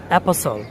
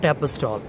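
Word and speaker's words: apostle: প্রথমেই শব্দের শেষে STLE এই চারটা অক্ষর থাকলে আপনি সেখানে টি এর উচ্চারণ করবেন না, অর্থাৎ সেখানে টি এর উচ্চারণ সাইলেন্ট হবে। যেমন অ্যাপাসল, নট অ্যাপাস্টল, অ্যাপাসল।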